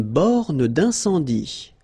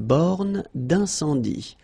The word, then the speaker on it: borne d'incendie: Une borne d'incendie. Okay, final E here not pronounced. Final E here not pronounced. Une borne d'incendie.